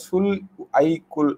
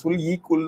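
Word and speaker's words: صلح کل: இலாஹி இது வந்து பாத்தீங்கன்னா அமைதிக்காக சுல் ஐக்குல் அப்படின்றது சுல் ஈக்குள் தான் வரும் சுல் ஈக்குள் அப்படின்றது சோ ஐ போடமாட்டாங்க ஈ தான் போடுவாங்க தமிழ்ல உச்சரிக்கிறது ஈதான் உச்சரிக்கணும் ஓகே சோ அக்பர் தான்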